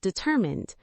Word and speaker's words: determined: And the adjective determined. Determined. The stress moves to the 2nd syllable.